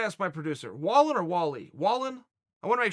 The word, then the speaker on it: Wallin: Wallin.